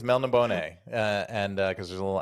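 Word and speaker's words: Melniboné: I always did it just straight up like Australia. Like I just made him Elric of Melbourne.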